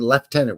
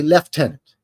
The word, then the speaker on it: lieutenant: way if you're wondering why I keep saying leftenant when clearly it's spelled Lieutenant it's because I'm Canadian e and that's how we say Lieutenant we say left tenant just like they would do over there across the pond over in the the